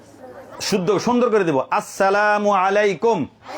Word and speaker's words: আসসালামু আলাইকুম: আসসালামু আলাইকুম। বল সবাই। আসসালামু আলাইকুম। আসসালামু আলাইকুম শুরুতে আ শেষে মিম আসসালামু আলাইকুম আসসালামু আলাইকুম নাকি সালামু আলাইকুম শুদ্ধ সুন্দর করে দিবো আসসালামু আলাইকুম আসসালামু আলাইকুম